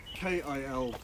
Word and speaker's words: Kilkenny: in kilkenny marble how'd you how did you spell that james k-i-l-k-e-n-n-y so kilkenny you know oh kill kenny kill